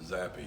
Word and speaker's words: Zapp: Yeah, I believe he pronounces it Zappy.